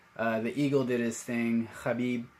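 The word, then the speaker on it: Khabib: Eagle did his thing Habib that's actually how you even say his name he did a fantastic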